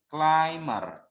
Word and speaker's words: climber: Nah, you don't sound this sound, so you pronounce it as climber.